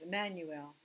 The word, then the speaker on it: Immanuel: Now, maybe you know this word, Immanuel. Im is the with. The anu part is us. And el is el. So we say his name was Emmanuel, God with us.